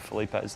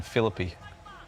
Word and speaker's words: Felipe: Josh Callaway rates your pronunciation of Felipe's last name. Felipe. Flipper. It's so much better than Philippi. Yeah. Sounds fancy as Felipe. Philippi's no good. Felipe is way better.